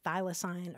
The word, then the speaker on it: thylacine: Now, that's an extinct marsupial that's also known as the Tasmanian tiger, and that's spelled T-H-Y-L-A-C-I-N-E. It's pronounced thylacine or thylacine.